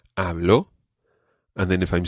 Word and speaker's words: hablo: and this phrase is hablo espanol okay now one thing we've got to watch with this phrase is the pronunciation of the letter b it's not a very plosive be like it's more hablo espanol espanol hablo espanol